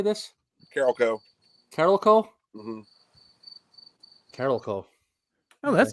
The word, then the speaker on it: Carolco: Carolco.